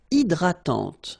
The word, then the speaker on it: hydratante: Une crème hydratante. So remember, H is not existing, and then this Y is pronounced like E. Hydratante. Okay, don't insist on the final E, and this is nasal. Hydratante.